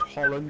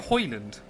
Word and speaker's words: Hoyland: Crew Chief said Holland is reeling me in. All I can think of is the Max Verstappen song. Isn't it Hoyland? Yeah, but he doesn't know how to pronounce Hoyland.